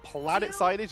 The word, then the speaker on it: Planet Sainage: Is Plant Sainage or Planet Sainage? It is Planet Sainage, even though it's spelled Plant Sainage, and they're running Groot, so it's fun to say Plant Sainage.